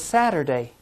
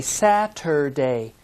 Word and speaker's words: Saturday: the sixth day is saturday if we say it slowly and read each sound we say saturday but usually it's pronounced saturday say it after me